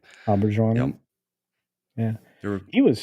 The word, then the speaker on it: Auberjonois: Yep, Auberjonois.